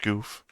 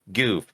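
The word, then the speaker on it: Gouf: it's pronounced it's pronounced goof goof if you ever if you ever yeah well if you ever have any confusion or doubts just remember the Goof Troop ramble roll in the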